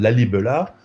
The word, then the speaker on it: Lalibela: Lalibela, comme ça se prononce, site absolument exceptionnel, où ma collègue Marie-Laure